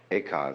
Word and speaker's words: Eka: Eka is Japanese pronunciation, like Zen is the Japanese pronunciation of the Chinese Chun.